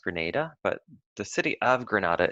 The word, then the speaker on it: Grenada: the name of a country in the Caribbean pronounced Grenada but the city of Granada is in Spain